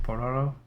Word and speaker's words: Pororo: Pororo, little penguin.